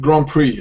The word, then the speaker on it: Grand Prix: the beach very good Grand Prix this is a French word yeah so wouldn't you